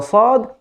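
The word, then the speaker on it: ص: refer to it that the correct pronunciation for the sod to depend only on the tip of the tongue and not using your lips so the third group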